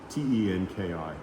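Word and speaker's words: 天気: And the word for weather is tenki, Tenki. Of course, it's not ten because they don't use English, but it's the Japanese characters that are pronounced tenki.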